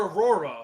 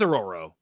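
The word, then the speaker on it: Ororo: they prob aoro and I've always called her Aurora it's aoro it's aoro it's aoro okay I've always said her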